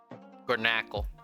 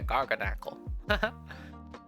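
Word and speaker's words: Garganacl: Garnackle or Garganackle. Yeah, Garganackle.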